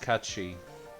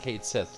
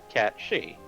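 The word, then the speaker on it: Cait Sith: Yes, Kachi. Lovely. And if you're wondering why we're pronouncing that way, it's an actual Celtic term for one of the Fae.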